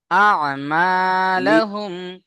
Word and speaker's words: أعمالهم: أعوذ بالله من الشيطان الرجيم بسم الله الرحمن الرحيم يومئذ يصدر الناس أشتاتا لي- ليروا أعمالهم নয়, আ'মা, হামজা আইন জবর আ। হ্যাঁ, কণ্ঠনালীর মাঝখান থেকে আইন উচ্চারণ হবে। আ'মালাহুম।